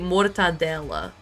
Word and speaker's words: mortadella: In Portuguese, you say it mortadella. It's just a different way to, you emphasize the syllables differently.